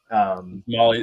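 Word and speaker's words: MOLLE: I don't know how you pronounce it. Mole vests. The Molly. Molly, it's the Molly system.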